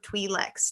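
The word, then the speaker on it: Twi'lek: right now i think some people call them twee lex too but i i've always pronounced it as well yeah i've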